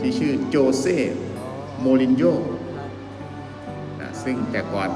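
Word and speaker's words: José Mourinho: อ่า de โคช ฟุตบอล special วัน ที่ ชื่อ โจ เซ่ มู ริน โญ่ ซึ่ง กว่า ก็ เป็น โค้ช ที่ มี ฝี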